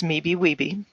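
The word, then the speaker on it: MBE/WBE: or women-owned business enterprises also known and pronounced as me be we be review certifications in the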